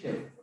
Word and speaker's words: chef: It's chef. Okay? Chef. Although it is written CHEF, it is pronounced as chef.